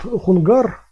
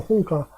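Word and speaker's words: 洪家: Вот хунгар, вот этот вот, который неправильно произносится, вообще там хунка, но окей, хунгар, или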